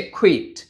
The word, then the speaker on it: quit: উচ্চারণটা হচ্ছে কুট।